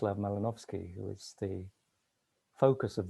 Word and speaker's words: Malinowski: library holds the papers of uh the anthropologist pronounced lava melanovsky who is the focus of the event uh